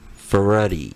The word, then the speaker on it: Ferretti: for ready did I say that right now you got